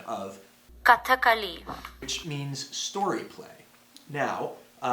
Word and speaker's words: Kathakali: And so I want to thank Isha Rao for giving me the correct pronunciation of Kathakali, which means story play. Now, this was a form of dance drama, and the movement in Kathakali is stylized down to the very minute movements